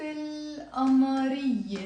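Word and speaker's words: القمرية: Now Amar, we will pronounce it again in the same way. Amar becomes Amariye. So we have here الحروف, the letters, but again I'm going to pronounce it الحروف. And then we have الأمارية with a liaison. I'm going to pronounce it الحروف الأمارية.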